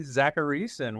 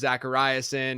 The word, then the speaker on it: Zachariason: You know, it's very flattering that you actually know how to pronounce my last name. Whenever I go on shows like this, it's always Zachariason, or like some people, like, whenever I get like spam phone calls, it's Zachariason.